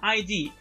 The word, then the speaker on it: ID: Okay, remember, la E in English se pronuncia I, okay, ID.